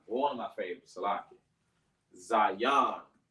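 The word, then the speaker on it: Zayin: Remember, it's pronounced Zion. Z-A-Yon. When you say it fast, it sounds like Zai, as in Z-I-Yon. So sometimes you're supposed to say Zion, but we kind of say it like so fast, like Zion. So it kind of sounds like a Z-I. But it's actually pronounced Zion.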